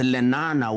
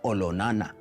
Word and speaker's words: Olonana: His younger brother, now much more famously known as Lenana, was actually Olonana, to give it the correct Maasai pronunciation.